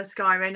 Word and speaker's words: scrying: Think of crying. Say scry, scrying. I keep saying it wrong. Scrying. No, not sky. Scry.